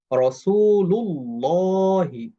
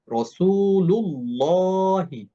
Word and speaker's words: রাসূলুল্লাহি: এই পেশ থাকার কারণেও এই লাফজুল জালালা এটা মোটা করে উচ্চারণ করতে হবে। বলতে হবে রাসূলুল্লাহি। রাসুলুল্লাহি আমি যদি বলি রাসুলুল্লাহি এটা ভুল উচ্চারণ।